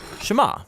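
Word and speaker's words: שְׁמַע: is hear or listen which in Hebrew is pronounced Shama that's where the prayer gets its name now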